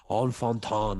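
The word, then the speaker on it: Enfantin: also got a enfantan his name is spelled en fenton e-n-f-a-n-t-i-n on fontan i guess is how you'd say it if you're uh you if use french uh but he he was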